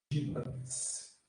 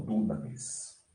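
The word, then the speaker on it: δύναμις: A pronúncia dele é essa aqui, ó. Dinamis. E não dunamis.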